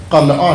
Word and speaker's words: قلعہ: سے معذرت کے ساتھ، کہ اصل تلفظ قلعہ ہے، لیکن اگر میں قلعہ کہہ دیتا تو سارے سوچتے رہتے کہ پتہ نہیں کس کا نام لے رہے ہیں، قلعہ کیا چیز ہوتی ہے، چونکہ رائج تلفظ زبان میں ہمارے پنجابی تلفظ قلعہ ہو گیا ہے۔ جیسے بھی کہتے